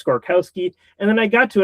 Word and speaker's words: Skorkowsky: though that it is Skorkowsky. I'm saying it right, right? You got it. Yeah, it's it it it it it's it is pronounced exactly the way it's spelled.